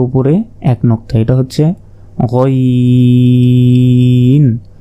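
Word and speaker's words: غ: এক নক্তা এটা হচ্ছে গাইন হলকের শেষ ভাগ হতে গাইন উচ্চারণ হয় এরপর উপরে এক নক্তা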